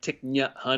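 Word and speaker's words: Thich Nhat Hanh: little like not tick not hum but like tick n hun because my wife's family is vietnamese so my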